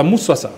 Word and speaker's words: Massoso: Voilà, Moussoissois, merci. Moussoissois, bien, c'est bien prononcé.